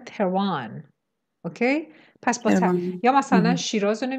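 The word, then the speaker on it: Tehran: رعایت نمیکنن این هست، شما اگه دارید درباره جاهای، البته تلکابن که شاملش نمیشه، شهرها اینهایی صحبت میکنید، اسمایی میگید که مربوط به کشور خودتون میشه، باید با تلفظ انگلیسی بگید. مثلا ما فارسی زبانیم، داریم درباره خودمون صحبت میکنیم، نه تهران. یه انگلیسی زبان نمیگه تهران، میگن تروان.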